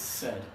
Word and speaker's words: said: this in English it's said it rhymes with dead it runs in bed it rhymes with Fred my buddy Fred okay teeth are together it's a strange spelling but an easy pronunciation she said she's feeling sad okay